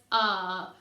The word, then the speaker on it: are: but it's got a silent e at the end but the whole word says are we are learning phonics